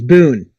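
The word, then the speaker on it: Bune: didn't get into there's Boone be a and E Boone it's spelled weird it sounds like Bane but it's Boone it's a three headed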